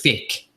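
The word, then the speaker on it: Faiq: We have, I have to pronounce his name properly. It's Fick, F-A-I-Q.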